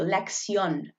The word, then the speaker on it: lección: top of the Oh which kind of makes that oh that oh sound lifts up a little bit more prominently and loudly so Lex yawn muy bien okay so